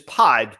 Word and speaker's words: pied: I thought we were going to be able to skip past pronouncing pied, but it is pied.